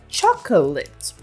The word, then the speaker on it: chocolate: So little, in fact, that sometimes we even skip over it. For example, the second O in chocolate. I'm really looking forward to eating this chocolate.